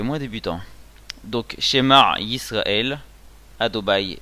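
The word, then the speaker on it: אדוני: Ensuite les deux prochains mots c'est Hachem, donc Adobai, Elohenu. Adobai en mille est rare, c'est-à-dire qu'on prononce pas, on dit pas Adoba, c'est Adobai.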